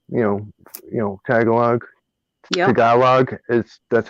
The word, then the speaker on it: Tagalog: to learn um you know you know tagalog tagalog is that's how it's pronounced tagalog mandarin and french gotcha i was